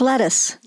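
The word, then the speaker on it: Lettice: be your real name it has to be pronounced Latisse she goes no it's lettuce who named certain lettuce British or strange no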